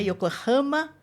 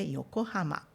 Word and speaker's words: Yokohama: O que eu queria dizer neste caso é para você não acentuar o ra. Não é yokohama, mas é yokohama.